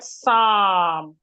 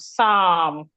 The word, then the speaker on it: psalm: When we have letter L after a vowel, especially letter A, sometimes the letter L will also make the letter A to make a longer sound as in the word psal. It is because of this L that is the A is making a long sound.